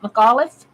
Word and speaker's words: McAuliffe: coming to me Anthony McAuliffe is how you pronounce that McAuliffe I always pronounce things wrong nuts he his